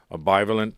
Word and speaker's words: bivalent: I mean, one of the things was in June of 2022, there was a bivalent vaccine. Did I pronounce that right?